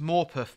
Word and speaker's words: Morpeth: Thomas, it's pronounced Morpeth board. Gets the name from a rather sharp curb at Morpeth on the East Coast Main Line.